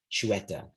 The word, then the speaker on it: chueta: This is how you say the word chueta, which is Catalan.